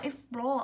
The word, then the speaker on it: explore: Ý B đọc là explore. Âm đấy của chúng ta cũng là O dài, trọng âm ưu tiên rơi vào nguyên âm dài, nó cũng rơi vào âm tiết thứ hai.